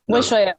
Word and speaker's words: Weshoyot: It's Weshoyot, right? Weshoyot. No T at the end? No T, no.